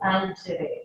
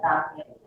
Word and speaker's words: Tangere: It should be pronounced Tangere. It's actually German, so it should be Tangere, not Tangere.